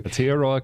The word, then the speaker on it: Aotearoa: I learned how to pronounce it from... He says it better than I do. Aotearoa Kia Ora from Aotearoa, which is New Zealand.